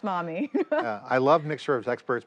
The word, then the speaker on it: MoME: Or mommy. Or mommy. Mommy yes, models. Pronounced mommy.